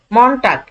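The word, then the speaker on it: Montag: বুঝতে একটু সুবিধা হয় সোমবারকে বলা হয় মনটা মনটাক এই যে এম ও এন মনটাক মন টাক ঠিক আছে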